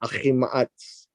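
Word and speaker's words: Ahimaaz: That's how we pronounce that, Ahi Ma'atz.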